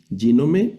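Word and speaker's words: γίνομαι: Aquí sería el acento en la primera sílaba yome. Ginome significa llegó a ser.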